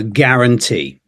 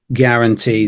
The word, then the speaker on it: guarantee: yeah yeah totally is uh and then uh guarantee guarantee this u a yeah you could be mistaken